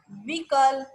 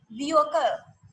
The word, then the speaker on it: vehicle: That is vehicle. That's vehicle, not vehicle or not vehicle. It's vehicle.